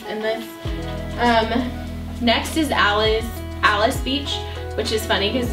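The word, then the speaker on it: Alys Beach: great honorable mention and then next is alice alice beach which is funny cuz it's spelled like alleys beach but it's pronounced palace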